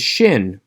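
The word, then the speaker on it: שׁין: is sin pronounced s the one with the dot over the right hand side is shin pronounced shh a good way to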